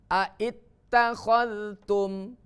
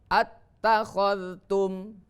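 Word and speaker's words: أتخذتم: Dan yang kedua, apabila hamzah istifham kata tanya masuk pada hamzah wasol, maka hamzah wasol dibuang dalam tulisan sehingga yang tertulis dan dibaca hanya hamzah istifhamnya saja.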